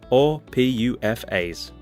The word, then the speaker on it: PUFAs: polyunsaturated fatty acids… or PUFAs (note to the narrator: pronounced “poofas”) When we consume PUFAs, they damage our cholesterol levels in a few different ways.